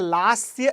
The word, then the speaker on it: Lasya: So read it as it is written in Sanskrit. Okay, so Tandav. That is Tandav. And this is called as a Lasya.